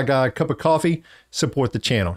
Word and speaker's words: Ko-fi: You buy a guy a cup of coffee, support the channel. It's easy as that. The link is is in the um description below as well, and it's called KO-FI, but it's pronounced coffee.